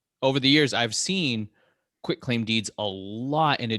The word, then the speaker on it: quitclaim: thing don't use the quit claim deed use a grant deed which your title insurance follows with that too many people they think it's pronounced quick q-u-i-c-k and it's quit and it it doesn't